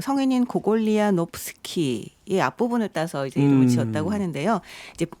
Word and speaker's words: 고골: 많아 보이지 않는 니콜라이 고글리의 외투를 읽어보도록 하겠습니다 니콜라이 고글리 아 근데 이름이 요즘에 바뀌었더라구요 코골이랑 고골 아 이게 원래네 발음을 안 하는 건데 옛날에는 그럴 때 영어식으로 읽었던 거군요 러시아에 대해서 이제 많이